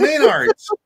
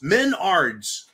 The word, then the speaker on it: Menards: store called Menards oh Manards is it Menards or Manards or Menards Menards Menards spell it's m n a r DS that's correct also not associated with